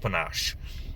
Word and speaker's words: panache: roads we get panache i think i pronounced this wrong in the past but uh it's pronounced panache and this is the feature